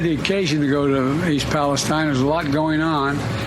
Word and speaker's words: East Palestine: I haven't had the occasion to go to East Palestine there's a lot going on here and I just haven't been able to break I was thinking whether I'd go to East Palestine this week but I've then was reminded I've